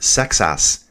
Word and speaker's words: Seixas: So just like, is Sayas correct? Should I just drop the X? T. Royvin's saying, I know the French pronounce it Sexas.